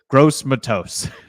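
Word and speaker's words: Gross-Matos: uh what do you call him he goes gross Matos gross Matos awesome youor gross Matos that's sounds like a pronunciation that I would have as we go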